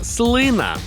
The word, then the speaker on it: слина: не знав що правильно слина слина слина слина слина слина слина слина Отже у слові слина наголос на перший склад запам'ятали с слина слина інколи коли